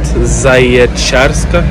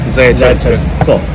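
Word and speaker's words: Zaječarsko: How do you pronounce that? Zajecarska? Yeah. Zajecarsko. Zajecarsko. Yeah.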